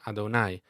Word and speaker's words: Adonai: then comes god's name which in hebrew is pronounced adonai this name is actually written as the tetragrammaton